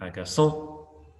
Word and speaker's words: agaçant: If you're wanting to add the feminine form, remember that the pronunciation will be slightly different. For example, je suis agaçant, je suis agaçante. So you're sounding that ending.